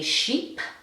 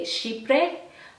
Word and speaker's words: chypre: I want to say this is what perfumers would call a sheep. Okay, some people may say chypre, but I think it's pronounced sheep.